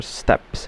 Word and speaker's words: steppes: It lies in the transition area between the Magellanic subpolar forests and the Patagonian steppes or steps. It's spelled as s t e p p e s.